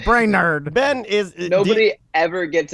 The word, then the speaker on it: Brainard: how are you guys why did you say ben brainerd why'd you say it like that right it couldn't help the bullying how do you pronounce your name and then uh he said brain nerd and then i almost